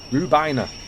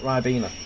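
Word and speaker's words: Rhiwbina: Rubina not Ryena. Rubina is how it's actually pronounced.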